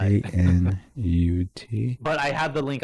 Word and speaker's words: Knut: it's KNUT. It's just Canute, like nut. Kanut.